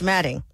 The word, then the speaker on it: Alfombra: the malignancy of Myron Alfombra, pronounced Madding.